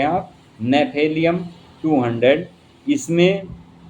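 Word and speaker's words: Gnaphalium: नेफेलियम note कर लें आप। नेफेलियम 200 इसमें जी से यह मेडिसिन का नाम जी से बनता है। जी इसमें साइलेंट होता है।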